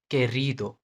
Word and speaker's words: querido: सो जब भी क्यू दिखे इसके बाद ये दो दो लेटर इसके साथ जुड़ेंगे जुड़ेंगे, तो इसका प्रोनाउंसिएशन की एंड के होगा, like querido, querido, querido, quiero, quiero, quitar, quitar, क साउंड, ओके, क साउंड।